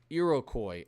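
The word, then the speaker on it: Iroquois: Irakcoy. Irocoy. I feel smart. I feel like I actually know how that's pronounced. Irocoy. Am I right, guys? Irocoy. I'm pretty positive I'm right about that.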